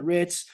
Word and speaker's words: writ: it putting on the rits reminds me of that old song On theit and Rit over here is spelled with a W it's w RIT T another way of describing